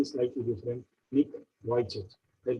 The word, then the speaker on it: Vujicic: Spelling is N-I-C-K, V-U-J-C-I-C-I, is Australian American, but pronunciation is slightly different. Nick Vujicic.